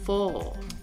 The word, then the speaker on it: for: Pour prononcer le R en fin de mot, on prolonge la voyelle qui précède for.